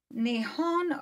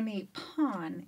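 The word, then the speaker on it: 日本: is tokyo and um you might pronounce japan as nihon or nippon if you were using the japanese language the government is a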